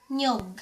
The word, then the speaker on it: niyog: But most of the time we pronounced it as nyog.